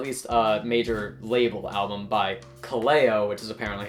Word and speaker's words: Kaleo: So this is the debut album, at least major label album by Kaleo, which is apparently how it's pronounced.